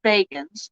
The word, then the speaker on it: Bagans: watching ghost adventures and making fun of zach bagans which i hate how he says his name it's spelled baggins but he pronounces it bacons and it drives me nuts see it's not